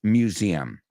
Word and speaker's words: museum: And the last one is Antiquities Museum. Vamos a pronunciar la palabra museum. Zzz, tiene ese sonido Z de doze.